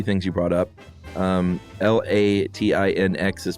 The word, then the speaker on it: Latinx: clarify a few things you brought up um l-a-t-i-n-x is pronounced she says Latin X okay uh it